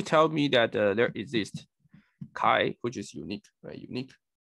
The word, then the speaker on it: chi: so there is this x uh or chi so i should pronounce this chi uh such that this